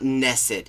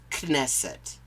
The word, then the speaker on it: Knesset: To review Knesset legislation, that's their It's not Knesset, it's Knesset. You have to pronounce the fucking K. That's why it's written.